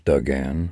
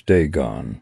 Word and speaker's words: Dagon: My appointment is with Ms. Duggan, I said, struggling. The girl smiled again and spoke into what looked like a goblet-shaped microphone. Ms. Dagon, she said, emphasizing the correct pronunciation.